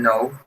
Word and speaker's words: know: pero aquí la acá no, digamos, en the pronunciation, the K is like a mute, ¿cierto? Es como muda, es like a mute word. So, you only pronounce now, no. He didn't know the answer, okay?